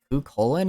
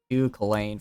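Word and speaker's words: Cú Chulainn: life I think um it was the uh who colon I believe is how you pronounced it he's a figure in Irish mythology and I pronounce it Lane for a while because I didn't know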